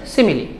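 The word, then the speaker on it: simile: তারপরের যে এক্সাম্পলটা সিমিলি, এর উচ্চারণ হচ্ছে সিমিলি।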